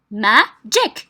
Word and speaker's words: magic: one magic okay so magic two syllables عندنا مقطعين donc magic donc first second syllable from the end تحسبوا من الأخير ماشي من الأول 1 2 2 is stressed okay so ma is stressed magic okay and same with